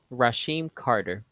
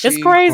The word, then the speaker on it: Rasheem Carter: Rasheem Carter. It's Rasheen Carter. crazy. They Say said it his was name. no foul play. It was just a ruthless killing. Just a ruthless killing of Rasheen Carter.